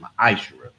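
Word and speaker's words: מַעֲשֵׂר: You can find this in Numbers 18:21, Malachi 3:8-10, means 10th in the Hebrew, and it's pronounced Ma'ashera, It's a tenth of every penny of any increase you give to the Treasury Department or preach fund.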